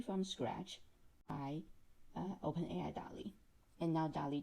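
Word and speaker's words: DALL·E: created by open ai it is pronounced dolly like the artist but written like wall-e in the pixar movie it's that famous robot this version of dolly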